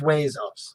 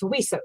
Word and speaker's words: WESOS: So tell us about this Wazos. Well, first I'm going to correct you. It's Wesos.